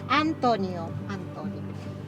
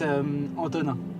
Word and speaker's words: Antonin: Donc, Antonio. Entonces se pronuncia como en español, normal. En français, c'est verdad es que es Antonin. Antonin. Antonin. Sí, es Antonin, pero es muy difícil a pronunciar.